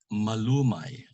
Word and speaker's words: malumay: The first kind of word in Tagalog is called malumay. That word has no mark, and the accent is on the second to the last, the penultimate syllable.